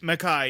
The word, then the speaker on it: Makai: Makai, yes, I was saying it right.